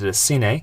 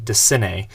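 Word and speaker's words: DeCinces: your guys' comments, so hopefully Doug DeCine is the right way to say it.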